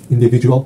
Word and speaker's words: individual: L 발음이 안 나, 지금. 마지막에 L로 끝나야 되잖아. Individual. 그렇죠. 그걸 끝나야지. 아. 왜 뒤에서 소리를 다 죽여? 안 나오네. L이 있는 데서 절대 이제 L이 무음인 경우 빼고.